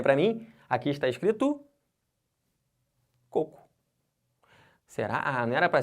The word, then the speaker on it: coco: Mas não é cocô, tá? Isso aqui é coco. Por quê? Porque se eu quisesse escrever cocô, seria assim. E não por diferencial, e sim por ser a regra. Essa palavra leva acento por quê? Porque é uma oxítona terminada em O. Por isso. Então não tem que fazer um diferencial. Já tem diferença. Se eu quiser escrever coco, é assim que se escreve.